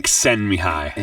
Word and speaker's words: Csikszentmihalyi: We're getting Csikszentmihalyi.